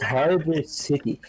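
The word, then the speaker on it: Hydrocity: It's Hydro City.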